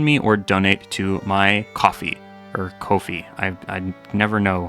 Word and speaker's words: Ko-fi: or donate to my Ko-fi. Or Ko-fi. I never know how to pronounce that. I think it's supposed to be coffee. It's supposed to be like buying a cup of coffee.